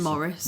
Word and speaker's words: Maurice: Well, it's spelled as Maurice, but he calls him Morris.